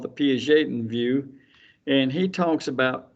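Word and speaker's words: Piaget: from Jean p p i a g t pronounced p j a n that's not Jean pet it's he's Swiss I think I don't even remember Jean p and his view is obviously called the P Jon View and he talks about changes uh in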